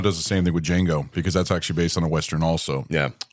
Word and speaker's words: Django: Well, I mean, Tarantino does the same thing with Django because that's actually based on a Western also. Yeah. But it was the D is silent.